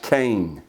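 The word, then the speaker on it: חֵן: Noah found grace the the Hebrew word there is CH en pronounced cane it means pleasantness or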